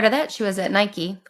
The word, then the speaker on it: Nike: And then prior to that, she was at Nike, or as you Brits say, Nike, which is really ridiculous. Greek goddess, say no more.